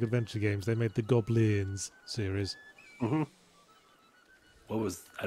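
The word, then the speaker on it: Gobliiins: And it was spelled with three I's. That's why I say it like that. Goblins? Goblins.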